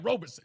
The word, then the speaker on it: Robeson: It's Paul Robeson. Yes, I was trying to remember that. I don't know why I was going. I was like, is it Rubens? Yeah. Robeson? Yeah, Robeson. Yes. Robeson. Robeson. It's not an easy one to remember. It isn't. Not Robinson or Robert. Yeah, no R.